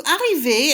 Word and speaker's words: arriver: So arriver, and you can see it's pronounced the same in the past participle as in the infinitive, means to arrive.